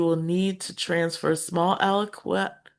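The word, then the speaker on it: aliquot: So you will need to transfer small aloquat aloquat of water to a beaker or other piece of glasswware before transferring the required amount to the flask. The term aloquat is pronounced aloquat and is typically used to describe small samples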